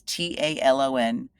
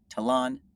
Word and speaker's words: talon: discarding I get is what's known as and people pronounce it many different ways. It's t a l o n tone talon talon.